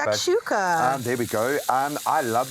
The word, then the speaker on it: shakshuka: It's kind of like a shuk-shuka Yes, vibes. Hey, exactly. I probably butchered the way I said that. The shakshuka.